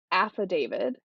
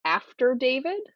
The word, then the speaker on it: affidavit: they say affidavit as after David, and that one kills